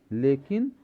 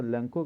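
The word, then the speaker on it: Lencho: अरे कॉलेरा होता है, वहाँ CHO से को पढ़ा जाता है, तो हम लंचो भी कह सकते हैं, लैंको भी कह सकते हैं, जो जैसा उच्चारण करे। क्योंकि मैं हमेशा लैंको कहता आया हूँ तो मैं लैंको ही कहना पसंद करूँगा।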